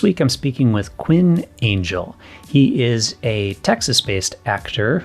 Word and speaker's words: Angell: here you go so is your last name pronounced Angel is that right yep you nailed it it's okay make sure it wasn't like angle or you know some unusual pronunciation or something it's all good I've had had uh I've had people go an hell and I'm staring going